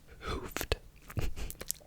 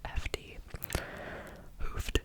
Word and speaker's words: Hoofd: Up next is hoofed. Or is I feel like that's the only way I can pronounce that word. It's spelled Hoofd. Hoofd, hoofd, hoofd, hoofd, hoofd, hoofd, hoofd, hoofd, which means head in Dutch.